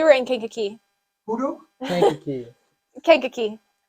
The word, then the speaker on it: Kankakee: in Kankakee thank you Kankakee it's kind of like Kentucky uh it sounds like a kid trying to pronounce the word yes I never heard